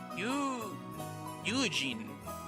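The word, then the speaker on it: 友人: it is pronounced... Yujin.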